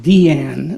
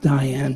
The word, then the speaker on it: Diane: Diane nof Arbus uh initially called Deanne not Diane because her mother named her after a famous actress she was very taken with who pronounced her name that way uh she was born